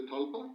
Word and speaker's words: tulpa: So giving birth to the talpa or the tulpa I prefer to call it tulpa though the correct pronunciation is talpa born it's a process